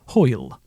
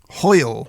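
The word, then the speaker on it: hwyl: same spelling so dessert to leave no same pronunciation but different meaning that's it right well uh this is an absolute banger hoyle hoyle yeah hoyle okay using a sentence uh i can't be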